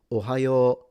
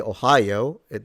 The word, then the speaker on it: ohayo: So konnichiwa and ohayo gozaimasu, if you want to say it like them. But yeah, not a big deal. Even if you say Ohio, they'll understand it, but it is a lengthened vowel.